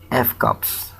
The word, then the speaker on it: FCAPS: performance security model commonly referred to as fcaps pronounced f cops rmes with snaps as its name indicates